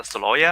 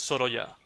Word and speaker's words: Sorolla: you pronounce this guy as a Soloya?